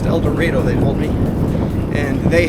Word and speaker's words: El Dorado: through a town called elor not El Dorado pronounced eloro they told me and they have a number